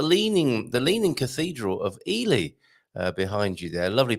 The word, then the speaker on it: Ely: than the UK and pronouncing that Eli or Ellie it's uh Ely in Cambridgeshire I believe in the